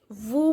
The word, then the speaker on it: vous: OU sound is u and s is silent.